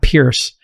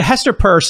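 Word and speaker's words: Hester Peirce: do you pronounce her last name it's not pierce um you can't pronounce the word pierce purse first person no it's spelled pierce but a hester purse is it worth following on the twitter h-e-s-t-e-r-p-e-i-r-c-e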